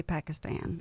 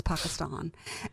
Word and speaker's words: Pakistan: right because you know I'm southern I say Pakistan and it's not Pakistan y'all its Pakistan and you call yourself